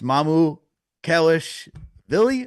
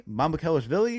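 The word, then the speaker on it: Mamukelashvili: So, there was a whole discussion on how to pronounce this name. I'm going to try it because Chris taught me. It's Mamu Kellish Villi. Mamu Kellish Villi.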